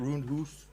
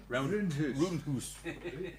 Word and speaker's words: Roondhoose: Roondhoose. Roondhoose.